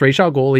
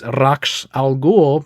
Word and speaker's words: Ra's al Ghul: The creator said it's pronounced Ra's al Ghul, even though culturally it's Ra's al Ghul, but no one's making that movie.